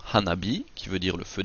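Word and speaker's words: 花火: Nous pouvons combiner si nous mettons ensemble Hana et B, nous obtenons Hanabi qui veut dire le feu d'artifice ou encore la fleur de feu.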